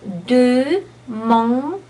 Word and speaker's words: demander: Another word, demander. Again, we have three vowels that are specifically French because on is a nasal A. Demander.